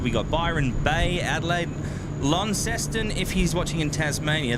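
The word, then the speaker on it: Launceston: what else have we got Byron Bay Adelaide Lon ceston if he's watching in Tasmania that's brand Leonard or if he's watching from Cornwall lanston lanston the correct pronunciation which we just yeah it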